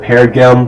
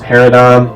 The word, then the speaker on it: Paradigm: the the uh I was calling it Paragon but uh have now realized it's probably pronounced Paradigm that sounds a lot better but the Paradigm system at 13.